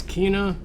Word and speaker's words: Kena: been desperately waiting for this is kina or keno bridge of spirits there are characters in this game that pronounce it both ways but unfortunately you're gonna